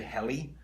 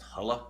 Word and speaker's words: Helle: all about I say heli and I think it's pronounced holla or hella in Norwegian and hella is a